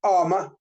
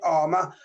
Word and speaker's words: Amour: with Mark and Cara Armour, but it's spelled AMOUR, but it's said Armour, Mark and Cara Armour,